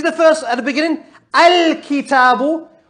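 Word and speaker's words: الكتاب: Al-kitabu. Can you hear me saying al? I pronounced the hamza because it came at the beginning.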